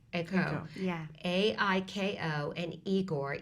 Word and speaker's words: Aiko: the io spelled is that the way I pronounce it AO or IO AO AO yeah a i k o and eigor e g o r tell us